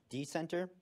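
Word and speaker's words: Decentr: what I mentioned before it's the browser called D Center uh it's spelled d-e-c-n-t-r because they're edgy it's based on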